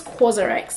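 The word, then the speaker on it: COSRX: this is this um I think it's quarx that's how it's pronounced so I usually use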